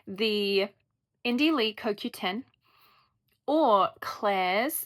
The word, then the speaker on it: Klairs: Two of my favorite toners are the Indie Lee CoQ10 or Claire's.